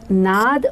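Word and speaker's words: नाद: And in the parentheses it said N-A-D-A, which I pronounced in my head Nada, which actually is supposed to be Nad. Nad means sound in Sanskrit language, but I read it Nada.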